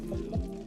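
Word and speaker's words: Mune: The cat here is named Moon. It's spelled funny. M-U-N-E.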